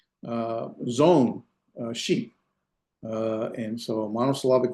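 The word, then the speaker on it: צאן: What this aleph is a quiescent aleph. Remember, we had a quiescent aleph. There's no pronunciation to it.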